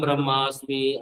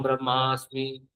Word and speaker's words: ब्रह्म: ना, अहम ब्रह्मास्मि, अहम ब्रह्मास्मि। अभी ब्रह्मास्मि से आप लोग उसको ब्रह्मा बोलने लग जाते हैं। उच्चारण गलत कर, ब्रह्म अस्मि। तो उच्चारण बिल्कुल उच्चारण सही से होना चाहिए। ब्रह्म, ब्रह्मा बोल देते हैं।